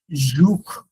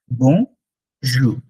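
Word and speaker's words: Bonjour: আর পরেরটা হচ্ছে জুখ, বলবো না আমরা, আমরা বলবো জু। আরটা খুব সাইলেন্ট থাকবে আরটা। বং জু, বং জু।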